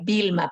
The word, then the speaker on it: Wilma: Sí, se pronuncia Vilma, pero se escribe con W, ¿no?